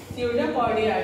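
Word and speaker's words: pseudopodia: से मूव करते हैं, स्यूडोपोडिया, ठीक है, जिसमें बी हमारा क्या रहेगा साइलेंट रहेगा, स्यूडोपोडिया और सीलिया, सी I double L आई ए सीलिया।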